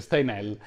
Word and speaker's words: Steinheil: All'epoca Marguerite Steinheil, in realtà il cognome è di origine tedesca, ma noi pronunciamo lo stile francese, Steinheil, detta Meg, è una bella trentenne i cui familiari sono industriali di provincia benestanti.